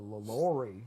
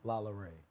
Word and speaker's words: LaLaurie: That nigga said LaLaurie. That is the whitest pronunciation I have ever heard.